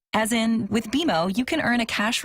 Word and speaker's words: BMO: You'll be seeing us around soon, and when you do, I bet you'll call us BMO. Don't worry, it's more common than you think, but we actually pronounce it BMO. As in, with BMO, you can earn a cash reward every month you save.